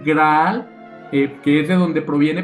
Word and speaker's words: graal: un caldero de vino la palabra grial pronunciada en francés antiguo graal que es de donde